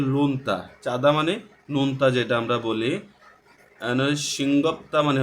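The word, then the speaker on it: 먹는: থুকবিরান মানে হচ্ছে বিশেষ নাল দিন বিশেষ দিনের মংনুন মগনুন এখানে উচ্চারণ করা হচ্ছে কারণ আমরা জানি গিয়ক বাচ্চিমের পরে যদি নিয়ন আসে তাহলে গিয়কের উচ্চারণটা ইয়ং এর মধ্যে উচ্চারণ হয় এজন্য আমরা এটা মগনুন উচ্চারণ করছি মগনুন না বলে এখানে বলছে যে মংনুন উমশিক খাওয়ার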